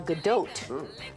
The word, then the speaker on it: Gadot: And Gal Gadot is Gal Gadot.